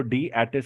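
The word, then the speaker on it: D-ATIS: बाय द वे डेटिस जो होता है उसको डी एटिस प्रोनाउंस किया जाता है स्टूडेंट्स, बी केयरफुल.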